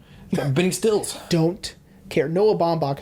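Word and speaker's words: Noah Baumbach: bidding stills don't care noah bomb that's how you pronounce his name by the way oh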